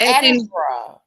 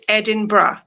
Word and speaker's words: Edinburgh: The most commonly pronounced is Edinbra or Edinbra.